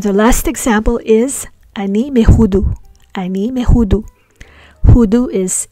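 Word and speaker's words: מהודו: Ani me Hudu. So we pronounce the mem as me because it is before a guttural letter. Ha. That is pronounced from the throat.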